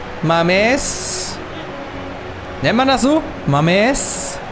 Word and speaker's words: Mamés: Mamés. Die Betonung auf dem E, auf jeden Fall.